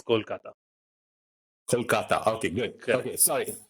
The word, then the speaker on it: Kolkata: it exactly say so the right way to say it in Bengali is Kolkata Kolkata okay good okay